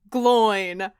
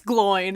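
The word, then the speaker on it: Glóin: fellowship of the ring i can confirm it's pronounced gloin we were right i think that's what we settled on in our chapter discussion and it's glowing and i remember getting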